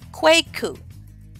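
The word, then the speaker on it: Kweku: Akua Akua all right so Wednesday borne males quake coupe quake coupe quake coupe Wednesday borne girls Akua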